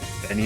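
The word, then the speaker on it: 紅: Japanese people shorten the game to just the first kanji. Well, okay, and sure, I'm supposed to know that the first kanji is pronounced Benny.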